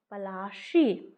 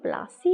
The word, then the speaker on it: पलाशी: इसका प्लासी नहीं था, एक्चुअल नाम इसका था पलाशी, है ना। पलाशी इसका नाम था, जो अंग्रेज को ये बोल ना पाने के कारण ये प्लासी इन्होंने रख दिया, क्योंकि उन बहुत चीज़ें